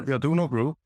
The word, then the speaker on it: Aduno Group: And then you moved from there to join and again you can pronounce it but Aduno group. Is that the way you say it? Yeah. The Aduno group.